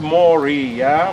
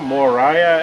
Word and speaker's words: Moriah: Uh that's where, as we know from the Bible, Abraham is leading his son Isaac to Mount Moria, Moriah as most of you will pronounce it.